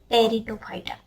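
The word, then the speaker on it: Pteridophyta: तो आल्गी, ब्रायोफाइटा, टेरिडोफाइटा, पी तो silent है, एबीपी न्यूज़ आप देखते हो ना, तो आप यहाँ पे ऐसे याद रख सकते हो, एबीपी एल्गी, ब्रायोफाइटा, P silent, but एबीपी टेरिडोफाइटा।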